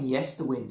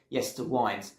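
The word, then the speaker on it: Yesterwynde: Coming in at number 9 now, we have got Nightwish and Yesterwinds. And I kept saying Yesterwinds in my review, and I apologise for that. Someone did point out it's actually said Yesterwinds.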